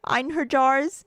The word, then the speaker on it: Einherjar: I bet the J is pronounced like a Y here.